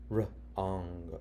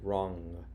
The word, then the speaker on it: wrong: Here it is, wr, wrong, silent w, wrong, and tried again.